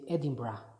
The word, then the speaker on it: Edinburgh: the capital of Scotland you write it like Edinburgh but the way they say the name they said Edinburgh the way they pronounce it and I'm going to